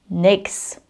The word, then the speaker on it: nichts: And nichts oftentimes just becomes nix.